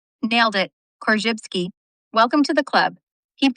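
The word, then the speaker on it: Korzybski: Kjypsky. Nailed it. Kjypsky.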